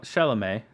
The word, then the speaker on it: Chalamet: So Chalamet. it's Chalamet. Chalamet. It's French.